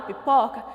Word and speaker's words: pipoca: força com mais intensidade na palavra pipoca nós temos a sílaba em pó muito bem pipoca sílaba pó eu ponho mais força para falar eu ponho mais intensidade nessa sílaba e ela é a sílaba tônica da palavra pipoca nós já falamos sobre